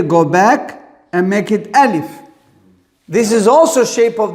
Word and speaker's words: alif: We say the name is alif. Not alif. Alif. It's very important.